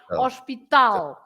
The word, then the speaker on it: hospital: for example for example you say hospital so you you you write exactly the same hospital but you pronounce you stress and we we stress Tau right hospital so the L the L always has the stress at the end then the Zeda also